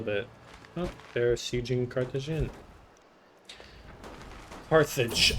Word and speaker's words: Carthage: Carthage as it's pronounced in English.